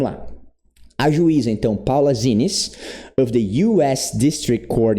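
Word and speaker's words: Xinis: Então eu estou assumindo aqui que essa leitura seja com som de Z. Zines. Zines. Mas como é um nome, né, um sobrenome aí pode ser que tenha outra pronúncia. Muito bem. Judge Paula Zinis of the US District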